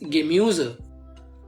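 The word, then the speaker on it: Gemüse: यू के ऊपर उमलाउट है, इसलिए इसकी प्रोनाउंसिएशन बनेगी दस गेम्यूज, मतलब वेजिटेबल।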